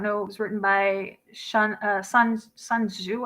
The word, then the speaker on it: Sun Tzu: The Art of War, if you guys don't know, it was written by Sun Tzu, I think you pronounce it, Sun Tzu, TZU. correct.